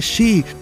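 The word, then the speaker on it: 四: Se pronuncia Shi, sonando igual que muerte en japonés o en chino Shi.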